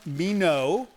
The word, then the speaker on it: Minot: all the way from Mino. Rhymes with why not.